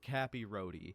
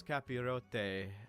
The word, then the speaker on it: capirote: the actual rule book I thought it was pronounced Cappy Roy but no the tall conical helmet pronounce capy roote and when wearing these